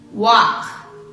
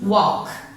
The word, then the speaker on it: walk: Okay, so the pronunciation of this word of work, walk. Okay, you can open your mouth, walk, like this smile.